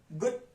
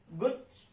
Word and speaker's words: गुच्छ: गुच्छ गुच्छ गुच्छ गुच्छ, च जो है वो आधा है, उसके साथ अ नहीं आया है, तो हम च को हम पूरा प्रोनाउंस नहीं कर रहे हैं, हम उसको छ के साथ ही जोड़ दे रहे हैं, तो च की जो प्रोनाउंसिएशन है वो बहुत कम आएगी।